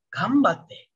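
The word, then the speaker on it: 頑張って: Tulisannya memang ganbate, tapi kalian bacanya jadi gambate.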